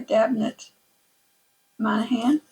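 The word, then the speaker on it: Damhnait Monaghan: This is New Girl in Little Co by Dabnet Man. That's how you pronounce her name.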